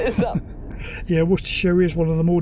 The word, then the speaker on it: Worcestershire: got Eric Shire or sister Shire it's actually pronounced Worcestershire it's like Leicester the Leicester no I can